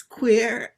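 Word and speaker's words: quare: It's Q-U-A-R-E. Well, that's queer. It's basically like queer, but not queer. It would be the way an Irish person would say it.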